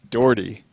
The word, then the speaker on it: Dougherty: Dougherty.